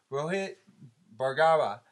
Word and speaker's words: Rohit Bhargava: We have the pleasure of interviewing and being interviewed by Rohit Bhargava. Did I pronounce that right?